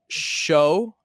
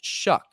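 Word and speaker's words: Shough: He is pronounced Shuck is what I found out very recently.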